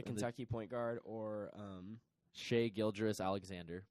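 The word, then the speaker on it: Gilgeous-Alexander: point guard or shea Gill juris alexander by the way a Guilder solid that's how you say his name that's like so much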